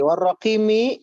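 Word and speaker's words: والرقيم: Oke, warraqimi, mi-nya dibaca pendek ya, tadi dibacanya panjang.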